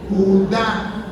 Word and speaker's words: Judá: Le dije, tío, por favor, ahí no dice Judas, ahí tiene acento en la A y dice Judá.